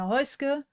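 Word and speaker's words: Häußge: I'm your host hoska this is how you pronounce my last name Noby in there um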